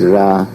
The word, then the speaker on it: Ra: and the Egyptian called Ra, some say Re, but it's Ra.